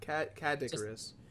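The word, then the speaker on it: Kadicarus: now it's Cadicarus, right? I always pronounce it wrong. No, you're cool. That's how you pronounce it. Yeah. Cadicarus. Yeah, it's just Kid Icarus, but backwards ish.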